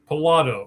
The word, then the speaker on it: Pilato: Pilato. All right. Like Pilates, right? Yeah, that's a good way. Okay. I say if you like to play the lottery, it's just lotto.